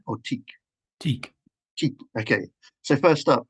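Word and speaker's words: TEAC: Is it pronounced Tiak or Teak? Teak.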